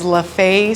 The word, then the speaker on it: Lefebvre: What is the official way to pronounce the name of your business? The official way is LaFay Street Bakery and Cafe.